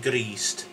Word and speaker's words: Grist: And Grist, which is Christ. So remember to roll your R, so it's gr, yeah? So it's not gr, it's not greased, it's greased, yeah?